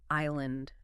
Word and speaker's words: island: Think about island. I S L A N D. That S is silent, right?